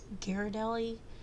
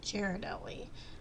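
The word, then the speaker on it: Ghirardelli: some pronounce it as gelli some pronounce it as jardelli I guess it depends on where you're from um but I'm I'm going to pronounce it as Jared Deli because I I guess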